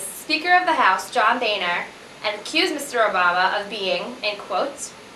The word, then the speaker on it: Boehner: Because of this, Speaker of the House John Boehner accused Mr.